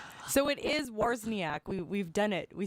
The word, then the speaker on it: Wawrzyniak: So it is Wawrzyniak.